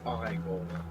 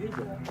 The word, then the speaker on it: Igor: No, it's pronounced Igor. People told me it was Igor. Well, they were wrong there, weren't they?